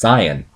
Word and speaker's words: Saiyan: And it fits because, like, in the Japanese, like, Saiyan, it's pronounced Saiyan in Japan, so Super Saiyan, Super Cyan, referring to the color of the hair.